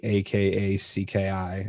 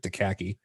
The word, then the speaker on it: Akacki: So it's at the Akacki, or as Lintile pronounces it, Akacki.